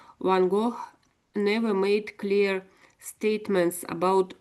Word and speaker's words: Gogh: I think it's quite close to how the Dutch say it, I think. But they don't really. We see it we see it as a G, and we sort of and I don't know. I say it as a G, as a G sound, I guess, G. But the Dutch, it's more like something like an H, and not even an H really.